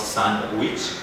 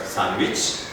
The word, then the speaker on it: sandwich: grunge grudge sandwich sandwich sandwich not sun witch but sandwich then we got letter